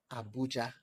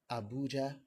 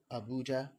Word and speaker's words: Abuja: I also learned that the correct pronunciation of this word, the Federal Capital Territory, is not Abuja, and it's also not Abuja. Rather, you say it as Abuja, so it has the rhythm low, high, high, Abuja.